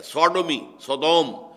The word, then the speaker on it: Sodom: منسوب کیا گیا ہے، سوڈومی، سودوم وہ شہر تھا، صدوم جس کو ہم کہتے ہیں، سوڈوم، SODOM، یہ بائبل میں اس کا تلفظ ہے، تو اس سے